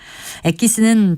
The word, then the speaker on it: 엑기스: 엑기스라는 표현 많이 나오죠 엑기스는 동물이나 식물 등 천연의 약물을 농축시킨 의약품이나 농축액 또는 추출물을 의미하는 말인데요 영어의 엑스트랙트란 말에서 나왔습니다 일본인들이이 말에서 앞부분에 x 부분만을 따서 그들이 발음하기 편하게 엑기스라는 형태로 변형시킨 것인데 우리말 표현으로는 진액이라는 한자어가